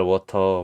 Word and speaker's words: water: 거 같아요 워터 미네랄 워터 뭐 이렇게 광고를 하잖아요 워터라고 해 발음은 워러 이렇게 발음을 한다고 보면 돼요 그런 단어들이 몇 개가